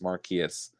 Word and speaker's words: Marquise: Everyone butchers my name, but it's pronounced Marquise.